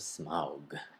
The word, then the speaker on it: Smaug: hobbit the desolation of smog okay so that's how it's pronounced i guess how do they say